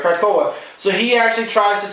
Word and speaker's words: Krakoa: Yeah, I was pronouncing it right, Krakoa.